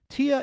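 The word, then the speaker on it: Téa: Tia is pronounced T, like UH.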